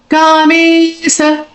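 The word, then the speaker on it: Kāmeśa: Kamesa. Ka has a dirgha and Ma has a dirgha.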